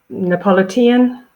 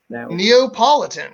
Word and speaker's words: Neapolitan: is someone from Naples Napolitan oh so close Neapolitan well that's the anglicized